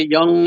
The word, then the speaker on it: Jung: you mentioned carl jung by the way young is spelled j u n g j u n g